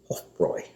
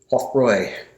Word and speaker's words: Hofbräu: And EU sound in German is an OI sound. So that's why in German language they would pronounce this as Hofbräu.